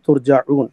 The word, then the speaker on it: ترجعون: یہ لفظ ترجعون میرے خیال آپ کا تلفظ کوئی آپ غلط کر گئے تھے. ثم الیہ ترجعون، پھر لوٹ کر تمہیں آنا ہے.